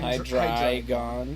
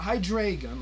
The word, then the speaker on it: Hydreigon: I don't know why, but Dino, Svilus, and Hydreigon. It's not Hydreigon like I first read it, but it's Hydreigon because it's Japanese German. What? Yeah, it's Germanese. Greek.